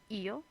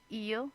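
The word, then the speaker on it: ils: two options we have eel and we have L now eel e l l we don't pronounce them any differently but in the plural form they will have an s on it so far so good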